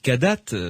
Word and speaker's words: Kadath: directeur de la revue cadate cadas ça s'écrit K a d a T H vous mettez un point